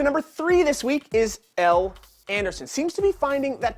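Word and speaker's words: Elle Anderson: in Louisville and in fact her name is pronounced l anderson i know we made fun of it last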